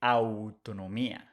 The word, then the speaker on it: autonomía: We don't say autonomía, we say autonomía, autonomía.